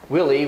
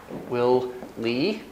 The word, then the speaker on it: Willie: the meeting tomorrow and she was trying to say willie which is the guy's name which has a clear stress on the first syllable first syllable stressed second syllable is less stress it's got a long vowel but it's still less stressed but she was putting equal stress on both syllables so it sounded like